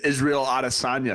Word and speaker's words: Israel Adesanya: Yeah, go down to Twin Peaks to go see Dricus Du Plessis and Israel Adesanya scrapping it out at UFC 305.